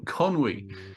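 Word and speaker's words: Conwy: will yes all right Conway is a particular uh favorite of mine yes I think it's a wonderful place Conway or Conway I should say con conwi how do you pronounce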